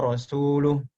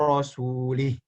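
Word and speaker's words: وَرَسُولُهُ: ada orang membaca, Innallaha bari'um minal musyrikina wa rasuluh. Harusnya seperti itu. Ya. Harusnya seperti itu. Akan tetapi orang tadi membacanya apa? Innallaha bari'um minal musyrikina wa rasulih.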